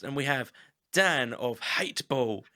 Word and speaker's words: H8teball: So Dan, you're in a band called H8teball. So it's spelt Hateball, however the A is replaced with an 8.